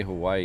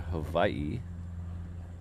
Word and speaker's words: Hawaii: When you say Hawaii, you're technically mispronouncing the W. The W is a V sound, so it should be a Hawaii.